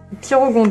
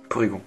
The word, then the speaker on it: Porygon: Pyrogon 2. Porygon, yes. Porygon. On était presque. Une syllabe.